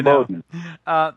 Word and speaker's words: Imboden: tricked me up, but Imboden, I guess, is that how you say it? Yes, Tristan Bowden, our drummer. Yes, it's Swiss. It's a Swiss name. Yeah, Imboden.